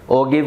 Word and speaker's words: ogive: मतलब partition values के लिए ओगिव का यूज़ कर सकते हैं या ओजाइव का यूज़ कर सकते हैं, वट एवर यू कॉल। मैं नहीं कहता कि मैं सही हूँ या आप गलत हो, हमें स्पेलिंग याद रखनी है, OGIVE ये लिखी हुई है।